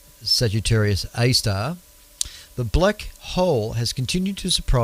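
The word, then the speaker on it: Sagittarius A*: But since the discovery of Sagittarius A, pronounced Sagittarius A star, The black hole has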